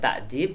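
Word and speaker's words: تأديب: yang ketiga adalah takdim memang bacanya kalau enggak hati-hati ini jadi salah ini ya karena Taklim kan pakai Ain sedangkan takdib itu kan pakai Hamzah ya takdib kemudian tarbiah nah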